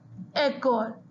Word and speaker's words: école: That is the reason we have given the accent aigu on E. So the pronunciation is école.